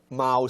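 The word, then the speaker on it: 猫: it is pronounced meow Mao sorry so it sounds like the sound of a cat all right when it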